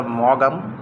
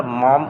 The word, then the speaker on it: Maugham: একজন British short story writer William summer shed মম এখানে যে শব্দটা শেষে এ মম শব্দটি এটার এক্সেন্ট অনেকেই ভুল করে এখানে অনেকেই এটা মনে করতে পারে এটা মগাম মগাম এভাবে কিন্তু এক্সেন্ট কিন্তু করতে পারে প্রশ্ন